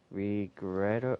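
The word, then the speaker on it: Regrator: okay so the big guys are puppet off regret regret that's how you pronounce his name okay and the uh the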